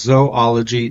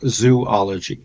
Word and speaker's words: zoologist: zoologist note to listen this word is pronounced zoology not zoology needs a similar background